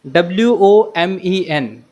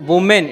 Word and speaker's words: women: Next one is W-O-M-E-N. It's not woman, it's women. Women. We pronounce it like we.